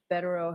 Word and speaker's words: Vero: to Grant this motion because Mr Vero is that how you pronounce his name yes Vero has specialized skill and knowledge